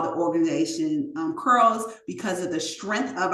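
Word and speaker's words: CRLS: honor of her and the acronym C R LS is pronounced curls and it signifies her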